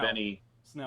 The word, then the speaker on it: Snell: Benny Snell. Benny Snell. Yeah. Yeah. I knew it was a one syllable name.